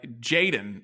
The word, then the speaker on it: jxdn: you're gonna like uh jaden uh he's jaden is a 19 year old like travis barker calls him his protege um his name is spelled jxdn which is annoying perfect for me it's